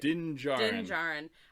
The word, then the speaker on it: Din Djarin: Din Djarin.